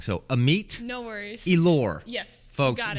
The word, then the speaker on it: Amit: I would like to say my name's uh am me am me am me yeah wow well I'm sure you don't watch a show but we traditionally get names wrong so Amit no worries elore yes folks get it right